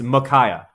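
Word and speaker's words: Micaiah: to know raulster how do you say it me kaya oh god me kaya dude arguing over firemen pronunciation is probably one of the least productive things in the world but it's makaya makaya makaya magaya anyways uh let's keep moving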